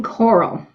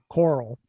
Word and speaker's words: Corll: How do you pronounce his last name? Dean Corll. Corll.